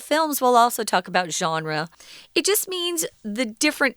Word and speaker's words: genre: Well, here it says it's a game genre. This is a really strange word. Yes, we know. Genre. Why are you saying it like that? Because it's a French word. We pronounce it the way they do.